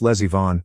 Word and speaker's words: Leivon: The name was Leivon, pronounced Lesvon, like my niece is the lesbian baroness of some German village.